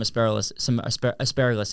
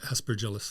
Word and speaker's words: Aspergillus: okay, this has some asparagus in it. I'm saying it wrong, but how do you say it? Aspergillus.